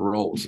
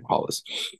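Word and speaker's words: Rolls: as well it's not roles and like okay Hollis but I was I was reading it roles when I was reading the book knowing the Portuguese pronunciation yeah Brazilians will correct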